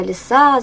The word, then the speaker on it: лиса: Ударение падает на А.